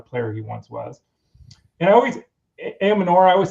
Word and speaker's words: Ayomanor: And Ayomanor, I always say his name wrong. Help me out here. Ayomanor.